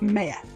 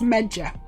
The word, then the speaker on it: Meja: I've answered the question my name is pronounced Maya but it's definitely a y yes it's definitely a year May yeah not major some people say major and I'm like it's